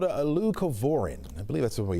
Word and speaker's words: leucovorin: All right, so for people hearing about this, and I hope I'm saying it right, it's leucovorin, right? Leucovorin, correct.